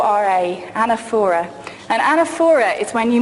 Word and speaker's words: anaphora: here what's known as the rhetorical device of anaphora I don't know if you've heard this word it's spelt aana ph 0 ra anaphora and anaphora is when you make a speech